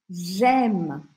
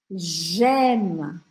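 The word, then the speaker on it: j'aime: verbo Eme em francês gema ó o Sorrisão aqui gema gema tá esse e no final a gente não vai pronunciar É como se eu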